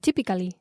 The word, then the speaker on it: typically: típicamente they'd be commended typically tip yeah but this is three syllables typically typically typically typically